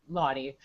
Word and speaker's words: Laudi: Next up, we have Laudi of Unbounce. There you go. And I said it wrong. I said your last name wrong. Please correct me. It's Laudi. Laudi.